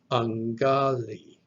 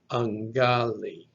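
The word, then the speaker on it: αγκάλη: Then the gamma, kappa gives us the NG sound, nga. Then another alpha, ah, a lambda, which is an L sound, l, and the last letter, eta, that's one of our vowels that makes the phonetic E sound, phonetic I, E. So pronounced all together, this word is angali, angali.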